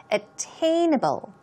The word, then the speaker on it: attainable: attainable here we go stress goes right there attainable attainable means obtainable now